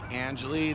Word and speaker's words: Angeli: Can you give me your first and last name and how to spell it, please? Sure, my name is Jake Angeli. That's Jake. Angeli, I was saying it wrong.